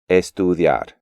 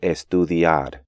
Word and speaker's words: estudiar: Even advanced students tend to pronounce these words gracias, adiós, and estudiar, when they should be gracias, adiós, and estudiar.